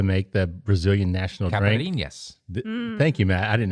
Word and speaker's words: caipirinhas: Caipirinhas. Thank you, Matt. I didn't know how to pronounce it, but I knew Love that was caipirinhas.